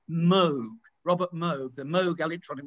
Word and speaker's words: Moog: mention the book actually by the way it's pronounced moog robert moe the moog electronic was not new many people in britain i thought it was moog a made-up word for the sound move but